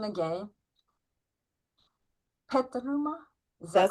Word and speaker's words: Petaluma: from I hope I'm not messing up the pronunciation again. Petaluma is that correct? That's correct. Okay. Petaluma.